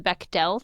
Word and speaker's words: Bechdel: Do you know the Beckell test? Be E is spelled weird. Be e C H. Beck D E L.